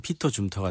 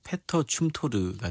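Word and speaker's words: 페터 춤토르: 우리가 영어로 발음하는 피터 줌터가 되고 현지 발음으로는 패터 춤토르가 되는데요.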